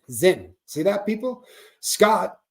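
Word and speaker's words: Zyn: Scott, thank you, because it is Zen, right? Then I said it right. Z-Y-N, Zen.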